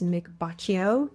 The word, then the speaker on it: Mick Baccio: I'm Carrie Fencl with the Breaking Badness cybersecurity podcast, and with me today is Mick Baccio. Did I pronounce that correctly?